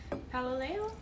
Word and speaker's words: Paololeo: here oh thank you paloleo all right that's pretty good rhymes with galileo i don't know i